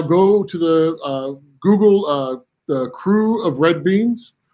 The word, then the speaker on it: Krewe: to the Google the Crew of Red Beans. Crew spelled with a K, Krewe, red beans.